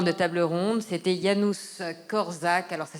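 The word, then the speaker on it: Korczak: de de fin de table ronde c'était Yanous corzac alors ça s'écrit k o r C Z a K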